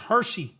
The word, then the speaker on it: Hexi: Apparently, this word is pronounced Hershey, like the candy bar.